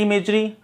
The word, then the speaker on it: image: एक बार ये भी ध्यान रखना, IMAGE इसका प्रोनाउंसिएशन होता है इमेज, पूछ सकते हैं आपको एग्जाम में, इमेज।